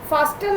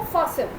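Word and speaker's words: fasten: फास्टन नहीं बोलना इसको, फासन, टी साइलेंट है, फासन।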